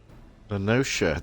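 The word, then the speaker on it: La Noscea: Lenoshia.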